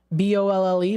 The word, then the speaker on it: Bolle: They've got, first one, I don't know if I'm pronouncing it correctly, Bull. B-O-L-L-E, Bolle.